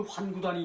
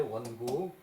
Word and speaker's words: 원구: 거기서 저기 그 환구단이 있었다는 얘기인데 그것을 환구라고 읽는 사람이 있는데 이것은 저기 그 이 원구라고 읽어야 돼, 원구.